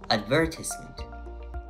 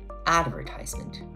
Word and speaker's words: advertisement: and words for instance in British English the word advertisement is often pronounced with stress on the second syllable advertisement while in American English the stress shifts to the first syllable advertisement accents can even extend